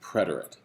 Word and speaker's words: preterite: the preterit which is sometimes spelled with an e and sometimes without but it's always pronounced preterite these are forms in